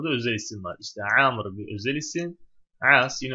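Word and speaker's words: عمرو: Burası Amr yani Ömer değil. Ömer olsa, Ömer olsa tam okunuşu şeyle. Burada vav olmazdı. Onu söyleyebiliriz.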